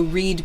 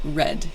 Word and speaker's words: read: So read becomes read in the past tense, but the spelling does not change.